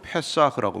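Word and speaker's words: פסח: 6월절은 히브리어로 페사흐라고 말합니다. 넘어가다, 통과하다라는 뜻이에요. 그걸 아람어로 발음하면은 파스하가 됩니다.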